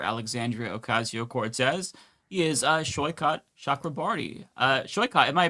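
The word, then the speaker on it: Saikat Chakrabarti: He is uh Shyot Shakraarti. Uh Sho, am I pronouncing your name correctly?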